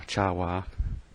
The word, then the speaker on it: Chawa: They were they're supposed to be the TOS style Gorn, and the Chawa, or Chawa, I pronounce it, are named after Wah Chang, who actually designed and built the suit.